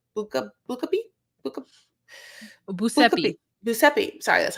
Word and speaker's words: Giuseppe: Giuseppe.